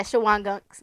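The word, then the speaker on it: Shawangunks: Is that how you pronounce that? Yeah, Shawang gunks.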